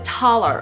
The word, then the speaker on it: Thaler: So he developed the talar or the tolar, depending on how you pronounce it.